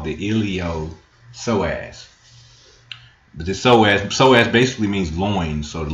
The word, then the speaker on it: psoas: All right, so you see these psoas, and just saying the word, it's pronounced psoas, but it's spelled Psoas.